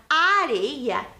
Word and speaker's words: areia: Percebam que na palavra areia, o som da letra R é mais fraco. Areia, corrida, o som é diferente. É a mesma letra em posições diferentes, que aí elas têm um som diferente, certo?